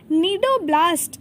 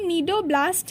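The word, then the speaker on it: cnidoblast: कहते हैं ठीक है अब नीडो ब्लास्ट का स्पेलिंग देखो सी और आई दी ओ बी ल ए एस टी मतलब साइलेंट है यहां पर नहीं दे दिया हमें भी देखो सी साइलेंट है तो सी देखिए नहीं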